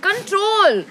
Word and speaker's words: CTRL: Control. But it's spelled like CTRL, but it's called Control.